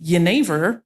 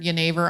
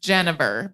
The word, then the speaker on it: Jenever: Yeah, if you've only read the word Jenever on paper and no one has ever said it to you, you might think it's pronounced Genever because that is, so